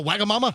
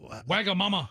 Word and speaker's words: Wagamama: you know we had a Wagamama?